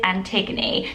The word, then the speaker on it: Antigone: because i've been like not sure how to say it but it is antigone there were only about